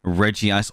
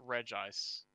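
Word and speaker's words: Regice: like that oh uh reggie ice or regis it's okay it's regis yep i know it's regis but reggie ice just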